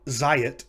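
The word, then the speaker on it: זַיִת: of those examples earlier the noun zayat meaning olive becomes zeytim so notice those two syllables za and yi become the single syllable zay so the uh the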